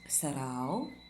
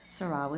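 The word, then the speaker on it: Sarão: It's actually Portuguese, and there's a tilde on the A, which I don't always carry. So it's actually supposed to be pronounced Sarau, but Sarau is fine.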